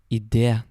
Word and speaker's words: idé: Very, very seldom you will also see an E with a little accent on the top. And basically what that means is that you add emphasis on the E sound.